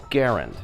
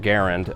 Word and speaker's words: Garand: language a little bit you have a comparable sounding word gerund which is spelled with und clearly uh which is